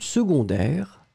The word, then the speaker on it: secondaire: S-E. Condairess. Souvenez-vous, phonétiquement, c'est une famille bizarre parce que on prononce second, secondaire, seconde. Le C est prononcé comme un g-g-g-g pour une raison évidente.